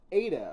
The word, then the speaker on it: Ada: chickmoore has either uh I've been pronouncing eat it wrong the whole time it's Ada according to the anime Ada to confirm if